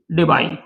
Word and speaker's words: Debye: तो एक साइंटिस्ट है, उनका नाम था पीटर JW डिबाई या डिबे, जो प्रोनाउंसिएशन आप करते हो।